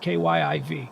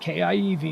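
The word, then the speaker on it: Kyiv: has it listed as kev kyv not kiev not the russian spelling not not the old soviet imposed upon the people even though that's not how they pronounce or spell their town's name like you were raised during the cold war or something with that pronunciation so disrespectful in this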